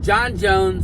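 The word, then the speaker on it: Jon Jones: He already said before tonight's fight that the winner between John Jones and Stipe Miocic, yes, Miocic, not Miocic, Miocic, that's how you pronounce it, has to fight Tom Aspinall.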